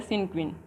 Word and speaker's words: cinquain: सिनक्वीन, इसका प्रोनाउंसिएशन होता है सिनक्वीन।